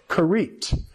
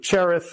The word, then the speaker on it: Cherith: was through the brook kit that's how it's pronounced in Hebrew cherith or whatever in in